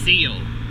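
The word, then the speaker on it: Cele: went to school with and they said it's seal so you know i'm not going to call it sealy anymore even though that's the way i was taught i believe that's probably the german pronunciation or polish maybe i'm not sure but uh i'm just going to call it seal from now on as c-e-l-e and they have the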